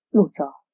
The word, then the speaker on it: Luca: Hogy kell kiejteni ezt a nevet? Luca. Lucának kell ejteni.